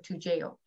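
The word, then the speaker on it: Toujeo: Another question on, is there any benefit in changing from Lantus to 2GO? Or 2JO, that's how you say it.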